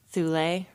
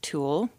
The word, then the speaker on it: Thule: to decide upon, but it's generally known as Thule, or as we like to say as Americans, Thule, T-H-U-L-E.